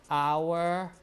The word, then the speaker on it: hour: But things like hotel, hour, like that. Some people, for hotel, some people don't pronounce the H, but the spelling is still there. And also for hour, people don't pronounce the H, but the spelling is there.